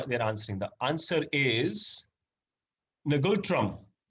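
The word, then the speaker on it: Ngultrum: answering the answer is negotram is actually called n is silent gultrum okay that's the right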